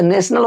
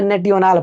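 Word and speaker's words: national: जैसे नेशनल होता है, नेशनल को मैं नेटियोनाल पढ़ता था।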